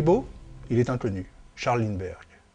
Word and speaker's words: Lindbergh: Charles Linberg. Personne aux États-Unis ou dans le monde ne pourrait prononcer correctement son nom le 21 mai 1927. On l'appelle Line Berger dans la presse.